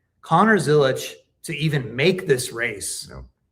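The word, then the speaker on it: Zilisch: the story I'm doing, his dad pronounces their name Zilich, not Zilich. I feel like everybody in NASCAR is saying Zilich. Like I say Zilich.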